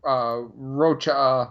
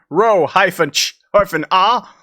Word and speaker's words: Rocha: He says, sorry, a lot of people say Rocha like you did. It's a little frustrating. No problem, Tristan. Ro-ch-ah.